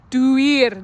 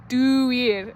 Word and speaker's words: Duir: The word for one of the words for oak is duar. I'm trying to say it right. It's like a door. Duir. There we go. Duir.